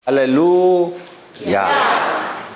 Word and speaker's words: 할렐루야: 할렐루야. 그게 원래 정상 발음입니다. 히브리 발음으로. 할렐루를 올려야 된답니다.